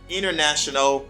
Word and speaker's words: international: today in american english they drop the t they don't pronounce the t and these words they say interview internet 20 dennis center lenny international quantity thank you for